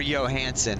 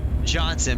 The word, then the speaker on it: Johnson: Boris is I don't know if it's Johnson or Johansson, how you pronounce that. Is it number one Boris or number two Johansson? How do you say his name? Johnson. Boris Johnson.